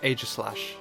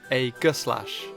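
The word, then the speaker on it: Aegislash: The most common pronunciation I've heard is a slash, which is how I pronounce it, but I've also heard it being pronounced a glash. If we split the name up, we have slash and this word. How does one pronounce this? Well, I have heard the combo of ae make the a sound.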